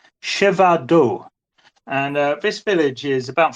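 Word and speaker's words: Przewodów: But it's Siewado.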